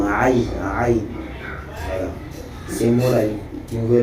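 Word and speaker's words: عين: Tu vas les prononcer par la gorge. Par exemple, Kha ou Aïn.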